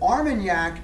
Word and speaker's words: Armagnac: there's a place just south of cognac called armagnac armagnac a-r-m-a-n-g-n-a-c i think it's spelled i think that's how it spell but arm and yak is a brandy producing area south of i'm